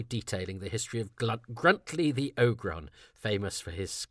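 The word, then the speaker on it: Gruntliegh: If you don't know what I mean, Gruntley is spelled G R U N T L I E G H.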